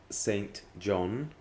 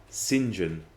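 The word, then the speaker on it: St John: often mispronounced is um when you have saint john and you have it all together people still say so and so is i don't know reginald saint john smith but you know we wouldn't say that in english it's reginald sinjan smith yeah i mean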